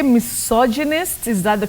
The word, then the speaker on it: misogynist: go about it that is the way to pronounce that word bety you say misogynist misogynist so and so is a misogynist okay misogynist